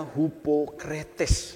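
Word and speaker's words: ὑποκριτής: Ya, di dalam kata Yunaninya untuk munafik, saudaraku, itu ditulis, saudaraku, hupokrites atau dibacanya hupokretes, saudaraku.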